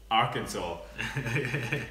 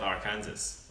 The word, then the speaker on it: Arkansas: It's pronounced Arkansas, not Arkansas.